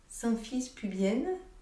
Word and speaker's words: symphyse pubienne: bas la symphyse pubienne symphyse pubienne ce ne sont pas deux erreurs de prononciation c'est vraiment l'os du